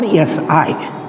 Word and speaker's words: psi: Wave function, that is psi or SI. Pronunciation is SI and symbol is that, just like symbol is represented by psi for an electron.